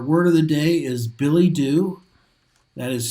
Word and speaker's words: billet-doux: billet-doux in the front, and it says no.